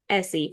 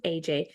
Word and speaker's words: Ece: So, with your name, it looks like Essie for those who may see it on the screen, but it's actually pronounced AJ.